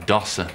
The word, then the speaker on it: dossier: i've brought you a dossier i think your phone is pronounced dossa not him this times dates